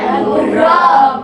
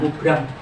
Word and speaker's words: mubram: Ada 2 yaitu mu'amad dan mubrom. Coba di video tadi ada toh? Mubrom. Ya, bacanya mubrom, jangan mubram. Mubrom.